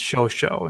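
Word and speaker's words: Chauchat: so it looks like ciao chat it's actually pronounced ShoSho in French but that's two words so if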